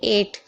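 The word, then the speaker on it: eight: समझे आप लोग देखिए एट एट तो बहुत सिंपल है आपने बहुत बार पढ़ा होगा तो वहां पर आप देखते होंगे कि भाई जीएच को तो पढ़ा ही नहीं जाता तो क्यों नहीं पढ़ा जाता क्योंकि लास्ट में जीएच टी है या फिर खाली जीएच होता तब भी जीएच साइलेंट रहता ओके समझ गए अब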